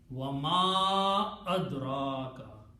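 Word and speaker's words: وَمَا أَدْرَاكَ: So this little hamza will force the ma to be pronounced with a mad. Wa ma adraka. Otherwise, ma is simple ma.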